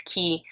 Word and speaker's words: Quay: looks like it's pronounced it's spelled Quay but it's key um aviator sunglasses they